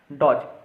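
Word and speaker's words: dodge: ही पूछा जाता है, डॉज। यहाँ पे डी साइलेंट हो जाता है, इसलिए डॉज पढ़ते हैं इसको, और डॉज पढ़ते हैं, और ये आया हुआ है 2024 में थर्ड शिफ्ट में।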